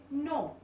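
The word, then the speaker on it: know: में भी यहां पर जो के है वो साइलेंट है ठीक है ये साइलेंट हो रहा है कब साइलेंट होगा अब आप इसको क्या बोलोगे नो अब के को प्रोनाउंस नहीं करेंगे नो नॉट नाइट नाइट तो यहां पे कब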